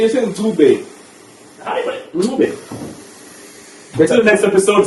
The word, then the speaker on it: Ncube: Pronounce it correctly. Yeah? No, man. You say Ncube.